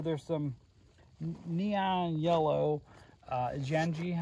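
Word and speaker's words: Janji: some neon yellow uh janii I think is how you pronounce it j a n ji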